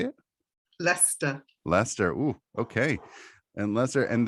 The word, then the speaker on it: Leicester: Leicester. Yes. How do you say it? Leicester.